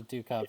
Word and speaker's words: ducat: I called it a Ducat for a while, but it's pronounced Ducat.